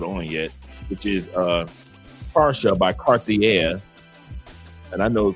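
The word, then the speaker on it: Pasha: I hadn't put on yet, which is uh para by Cartier. And I know Cartier is not how you pronounce it in French, but it's para. P A R S H A para col very masculine.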